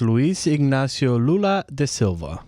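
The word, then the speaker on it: Luiz Inácio Lula da Silva: And by the way, you guys are saying his name wrong. It's Luis Ignacio Lula de Silva.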